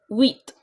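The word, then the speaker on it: huit: you pronounce it as wheat so H is silent here and you and I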